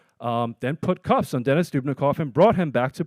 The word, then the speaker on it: Dubnikov: keep in custody a Russian national named Denis Dubnikov. I'm going to spell it for you if you want to Google it. D-U-B-N-I-K-O-V. Denis Dubnikov.